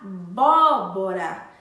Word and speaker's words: abóbora: possui assento sim possui abóbora a sílaba mais forte é vó a abóbora então abóbora possui o